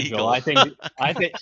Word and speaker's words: Sigil: Well, I prefer to call it Sigil. Seagull. I think that's the better pronunciation.